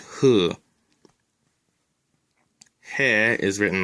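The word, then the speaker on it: ふ: Hu can be written in English as either hu or fu, but it's always pronounced hu.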